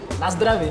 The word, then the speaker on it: Na zdraví: Na zdraví.